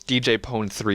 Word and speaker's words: DJ Pon-3: yeah but the fact of the matter is DJ pon3 is a stupid sounding it's funny but they